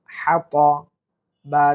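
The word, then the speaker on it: حطب: হা, ত জবর ত, হাত, বা জের বি, হাতাবি। তাহলে হাম্মালাতাল হাতাব। লক্ষ্য করুন, আমরা হাটা সুন্দর করে উচ্চারণ করার চেষ্টা করব, অর্থাৎ কণ্ঠনালীর মাঝখান থেকে আমরা হাটা নেওয়ার চেষ্টা করব।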